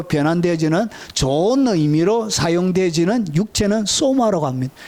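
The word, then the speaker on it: σῶμα: 이것은 소마라고 읽습니다.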